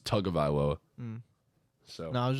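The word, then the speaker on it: Tagovailoa: say tongue lower yeah it's actually how it's pronounced I'm pretty sure it's not tag about level it's like talking about it's tug of ILO um so no I was just wondering I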